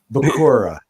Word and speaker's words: Bakura: Bakura. That's how it's pronounced.